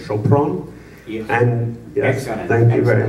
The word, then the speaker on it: Sopron: So I and I and I thought uh I didn't know how to say it, but it's Chopron.